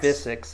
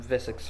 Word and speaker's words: Visix: I'm not I'm not Vix. I'm Vissix fan.